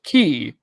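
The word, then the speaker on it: χ: In Kingdom Hearts, we have the Greek meaning of the letter pronounced as chi, chhi.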